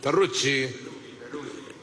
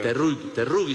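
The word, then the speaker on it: Teruggi: Terrucci. Terrugi. De Sicilia. Terrugi se pronuncia.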